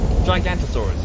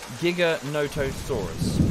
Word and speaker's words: Giganotosaurus: Gigantosaurus. Is it just Gigantosaurus? It's longer. Okay. So both are in the game. Thank you, Dark Thunder. Thank you very much. Oh. Giganotosaurus. Okay.